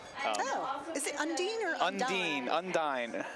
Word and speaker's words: Undine: Oh, is it Undine or Undine? Undine. It's the Dean. It's always the Dean.